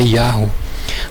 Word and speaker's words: Yahoo: Que o povo fala Yahoo, mas não, a pronúncia correta é Yahoo, porque esse termo vem do hebraico, e Yahoo é o nome do criador do universo, né?